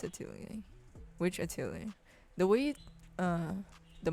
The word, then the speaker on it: Atelier: Atelier? Is that how you pronounce it? Atelier. Yeah, it's Atelier.